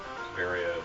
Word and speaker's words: Varia: yeah, it's Prime 2 or Prime 3, it is pronounced Varia, but It's kind of it's a- also said that way on the PAL version of Prime, isn't it?